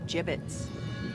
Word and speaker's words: gibbets: gibbets leftover gibbets what it's pronounced jib it's are you sure gonna